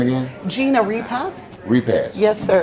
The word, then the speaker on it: Repass: how you spell it R e p a s s r e p a i I couldn't tell where there was a te onut I know it sounds like repass yes and Kansas yes